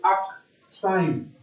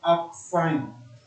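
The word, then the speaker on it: arcsine: In mathematics, when we pronounce it correctly, you pronounce this as arc sine. Okay, like this. Okay, the proper word is arc sine.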